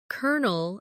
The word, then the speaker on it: colonel: For example, colonel is spelled c o l o n e l, but sounds like kernel.